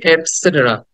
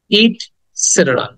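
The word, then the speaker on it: et cetera: উচ্চারণ হবে ইটস সেটেরা ইট সেটের ইট সেটেরা সেটের সেটের এটাকে দ্রুত বলতে হবে এখানে শর্ট সাউন্ড ইটসেটের ইটসেটের ওকে এটাকে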